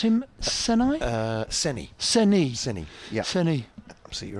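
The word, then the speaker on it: Saini: Do you pronounce him Senai? Seni.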